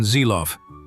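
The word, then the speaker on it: Seelow: Correct pronunciation Zeilof.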